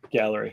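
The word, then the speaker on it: Gaahleri: Is that how you pronounce Gallery? it? Yeah. Gallery, yeah.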